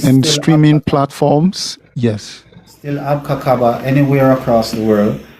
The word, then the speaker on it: Abka Kaba: Abka Kaba. If you want me to spell it, I can do that. It's ABKA KABA. So it's not too difficult. You can separate it by saying Abka and Kaba, or you can put it all in one.